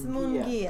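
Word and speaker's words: Munguia: spell it for you. How do you say M-U-N-G-U-I-A? Loops Mungia.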